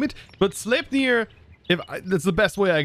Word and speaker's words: Sleipnir: So, I thank you guys for commenting all below what we should name it, but Sleipnir, that's the best way I can pronounce it, is apparently Odin's horse.